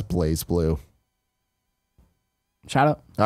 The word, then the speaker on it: BlazBlue: Nanobiologist says BlazBlue is pronounced as Blaze Blue.